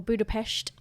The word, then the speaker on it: Budapest: We love Budapest as well, or Budapest, if you want to be local about it.